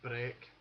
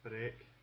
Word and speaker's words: break: Break can be said breck, but this appears to be unique because any other words